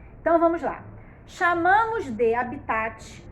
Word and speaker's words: habitat: Habitat é essa palavrinha aqui, ó, com H, ó. Habitat. O T é mudo, não tem vogal com ele.